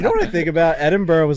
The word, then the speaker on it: Edinburgh: Edinburgh was like the coolest place I've ever gone to.